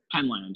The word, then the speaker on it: Penland: We've all been saying, I assume that's how you pronounce it. Penland, yeah, Penland, yeah, not Penland, Penland, yeah.